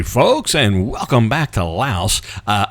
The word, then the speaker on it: Laos: Hey folks, and welcome back to Laos. Uh, I know the S is silent.